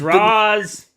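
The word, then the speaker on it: Ra's: No, it can be pronounced as both. Like it genuinely can, but in the race, the character it's pronounced Raish Al Ghul. That's the only reason why we fucking call him Raish.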